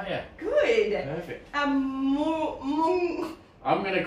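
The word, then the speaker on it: moong: Mung. I'm going to call it. I'm going to pronounce that mung.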